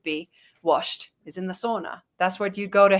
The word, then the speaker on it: sauna: And so, yeah, we have sauna, which is, well, or sauna, as you guys pronounce it, which was the original Finnish church.